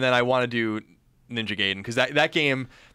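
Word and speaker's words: Ninja Gaiden: Ninja gayen right there I always say it like that I I said it like that until I saw the guy going ninja gayen in the Wizard and then I was like I'm saying it wrong wrong my whole life mean that was that was the first indication that I was saying it wrong but it's just that's it's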